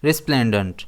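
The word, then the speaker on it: resplendent: इसे हम प्रोनाउंस करेंगे रिस्प्लेंडंट। इसमें स्ट्रेस एस पर रहेगा।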